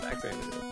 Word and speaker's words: Faxanadu: How do you say it? Faxanadu. Fact Xanadu. Yeah. That's the official Best of NES pronunciation.